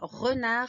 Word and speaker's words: renard: Renard avec une lettre muette à la fin.